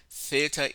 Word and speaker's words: theta: line okay eita theta theta is pronounced using two English letters T and H theta so this is your